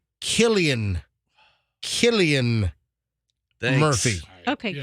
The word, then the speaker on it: Cillian: And I called him Cillian Murphy when the C is like not Celtic, but Celtic. So his C is pronounced like a K.